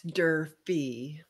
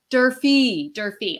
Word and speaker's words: Durfee: I'm really excited to welcome Durfee. Did I pronounce that properly? It's Durfee. Durfee.